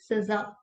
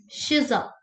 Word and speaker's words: Shiza: Uh, on first day, you told me it's not Siza, it's Shiza. So now, am Yes, I ma'am. saying it correctly? Yes or no? Yes, ma'am, it's Shiza, ma'am.